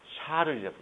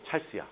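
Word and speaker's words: Charles: 그래서 얘를 샤르의 법칙이라 불러요.이 샤르의 법칙인데 이거를 영어로 발음하면 어떻게 표현될까? 샤르 아니요. 프랑스 사람인데 샤르를 영어식으로 샤르 아니요 어 찰스입니다. 맞아요. 찰스야 그래서 영어로 배울 때 것을 찰스로 이렇게 배워요.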